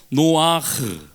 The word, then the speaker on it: 노앜흐: 너무 쎄게 하면 안되요 너와 크가 아니고 놓아 흐르 놓아요 놓아 에다가 놓아 에다가 흐를 할 때 약간 이 천장을 긁으면서 후 발음을 되는거 놓아 그